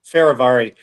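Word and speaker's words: Fehérváry: uh they lock in one of their uh free agents um Martin how do you how do you pronounce his last name I know you'll know it faravari and that's a really good I the last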